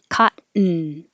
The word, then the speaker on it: cotton: The N becomes its own syllable. So button. Cotton.